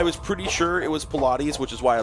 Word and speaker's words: Pilates: Is that pronounced Pilates? It is right.